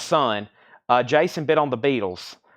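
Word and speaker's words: Sunn O))): And last night, I listened to Sun, or Sun-O. It's pronounced Sun.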